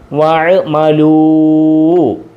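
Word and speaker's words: وَعَمِلُوا: ഐന് സുക്കൂൻ വഅമലൂ വഅമലൂ വഅമലൂ. ബഹുവചനത്തിന് ശേഷം ഒരു അലിഫിനെ കൊടുക്കും, എഴുതും. ഈ അലിഫിന് ഉച്ചാരണമില്ല.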